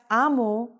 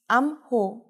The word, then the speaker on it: 암호: So the sound of 히읗 just goes away. So you can read it as 아모, not as 암호.